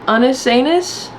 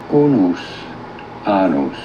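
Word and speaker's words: Unus Annus: They used the term ananus. Anis, hang on, let's see how to pronounce that. Unus anus. Unus anus. Well, I was wrong.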